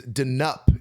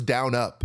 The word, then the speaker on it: Denup: our guest first, is Denup is actually how it's pronounced. I thought it was down up. Yeah. But Denup, because if you flipped over the letters, they are the exact same if you rotate it.